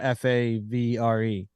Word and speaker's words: Favre: don't know game two how would you pronounce uh f-a-v-r-e uh favre see yeah some radio people in the 90s fell into that trap sure did some still